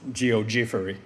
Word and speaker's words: Geogiffery: I've been discussing with people quite a lot how to pronounce Geogiffery.